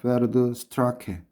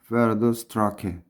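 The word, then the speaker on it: Pferdestärke: 가끔 가다가 1PS를 묻는데 PS는 독일식 발음이에요. 그래서 페르드 이건 한 칸 띄우지 말고 붙여 쓰세요. 페르드 스트라케. 그래서 페르드가 말인가요? 그 다음에 스트라케가 힘인가요? 그래서 두 개 붙여 써서 페르드 스트라케.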